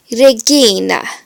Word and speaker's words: regina: R should always be rolled like Spanish or Italian. So here is a word where you can roll your R's. Regina, which means queen.